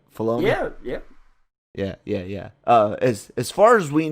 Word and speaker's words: Filoni: as we know Filoni, I'm saying it right Filoni?